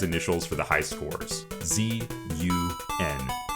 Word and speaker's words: ZUN: Z-U-N. Zun. It's a play on Jun, the first syllable of his name.